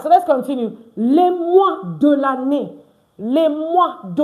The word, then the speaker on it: mois: Les mois. Why is it les mois? Why is it not les mois? Because is it in our previous live class that OI is pronounced wa.